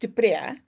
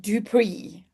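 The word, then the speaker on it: Du Preez: So Dupree should be pronounced Duprea because it's an Afrikaans surname. But I am English speaking, and my husband came from an English speaking family. And they always said Dupree.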